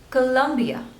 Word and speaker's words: Colombia: Next one is Colombia, Colombia. So there are 3 syllables and you have to stress on the second one.